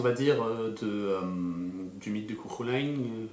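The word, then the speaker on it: Cú Chulainn: dire, du mythe de Cuchulain, Cuchulain, pour le prononcer à la française.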